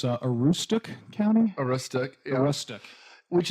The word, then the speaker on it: Aroostook: They say the county, it's Aroostook County?